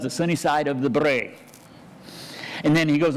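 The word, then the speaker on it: brae: familiar with that word it's pronounced bray and it's a Scottish word meaning hills why he didn't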